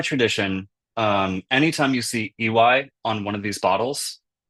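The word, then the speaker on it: Iwai: of these bottles, um, and it's spelled I W AI, so it gets it's still like most people, even if they're they know how to pronounce this this word, usually comes out in a kind of jumble of vowels, the easiest way to remember is just by saying E and Y next to each other, that's just the guy's name.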